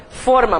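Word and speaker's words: fôrma: Então, forma, mas cuidado porque a pronúncia é fechada, né?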